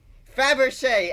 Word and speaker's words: Fabergé: Fabergé.